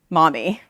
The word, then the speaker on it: MoME: And they're tuned on Llama to create a mixture of memory experts, or pronounced mommy.